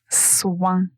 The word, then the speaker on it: soin: Ici, nous avons aussi la la partie nasale, ouin, soin.